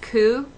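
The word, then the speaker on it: 九: with the pronunciation the number nine is sometimes pronounced cou which can mean suffering um but you don't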